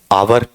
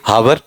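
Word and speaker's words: hour: अब आप इसमें गलती क्या करते हैं, इस चीज पे आते हैं, क्या बताते हैं आप, आवर, ठीक है, या फिर कुछ तो हैं ही मेरे जैसे, क्या पढ़ेंगे, हावर, उनका तो अपन कुछ रोक नहीं सकते।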